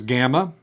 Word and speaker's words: gamma: So gamma is going to have a G pronunciation is in got or get or go, except when it is before a kappa, a chi, a xi, or another gamma.